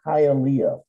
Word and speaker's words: Hialeah: By the way, Kay, I wanted to mention that city that you mentioned, it's pronounced Hialeah, the one in Florida.